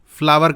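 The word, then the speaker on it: flour: अच्छा, इसका प्रोनाउंसिएशन भी अक्सर लोग गलत करते हैं, कोई फ्लोर पढ़ रहा है, कोई फ्लावर पढ़ रहा है, फ्लावर कहा जाता है इसको।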